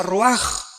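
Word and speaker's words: רוח: con r de Raúl a c h se pronuncia Roach por ejemplo cuando hablamos del Espíritu Santo El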